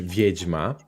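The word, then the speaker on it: wiedźma: I like this word in Polish viejma right in Ukrainian you pronounce it differently how could you repeat vidma so basically it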